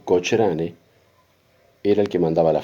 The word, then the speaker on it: Cochrane: cargo de un almirante de apellido cocin o si se quiere escribir cochrane o pronunciarlo como quieran cocin digamos el almirante cocr o cochrane era el que mandaba